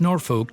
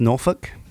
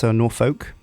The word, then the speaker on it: Norfolk: Your first task is to create a rail connection between Omaha and Norfolk to the northwest. It's pronounced Norfolk, not Norfolk.